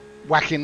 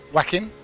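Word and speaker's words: Joaquin: Whacking Martins. I think that's how you pronounce the name. Whacking? Like Whacking Phoenix, right?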